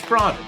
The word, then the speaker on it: Sprada: it's Sprada. Did I pronounce that right?